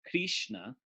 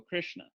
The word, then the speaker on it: Krishna: Krishna like that and most English speakers are actually pronouncing it right because when they see that they don't go krishna they go krishna which is very very very very close to being exactly right so but technically it